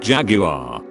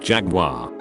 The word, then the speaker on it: Jaguar: were talking cars and I pronounced the make Jaguar. Butthead on the next stool takes the time to lean over and say, it's pronounced Jaguar.